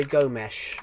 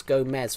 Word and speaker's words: Gomes: It was Gomez with an S, but the commentator kept saying Gomesh. The commentator kept saying Gomesh, but there was no H, so it was Andre Gomesh.